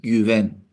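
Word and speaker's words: Güven: Se pronuncia así, Guven, significa confianza.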